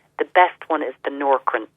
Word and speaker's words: Nourkrin: I think if it's falling out and thinning on the scalp, the best one is the Norcrin. It's spelled Nourkrin.